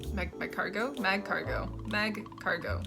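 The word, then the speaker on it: Magcargo: all right I'm feeling pretty confident here Slugma mag cargo is how I would pronounce it all right mag cargo by cargo mag cargo mag cargo right yeah sure then we have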